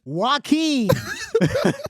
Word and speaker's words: Joaquin: It's Joaquin. It's 2 syllables.